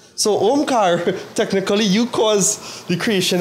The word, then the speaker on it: Omkar: But then there was a sound traveling, Omkar. That is how it is said to pronounce it. So Omkar, technically, you cause the creation of the universe.